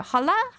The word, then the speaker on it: hola: You don't pronounce the H? Well, I don't care.